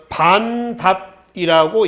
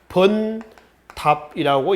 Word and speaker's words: 번답: 반답이라고 읽진 않고요. 이거는 원래는 반자죠. 한자 반자입니다. 근데 반은 아니고요. 번자입니다. 번답이라고 읽습니다. 이 번은 이두 문자입니다. 이두식 문자요. 그래서 이제 번답이라고 읽지 반답이라고 읽지는 않습니다.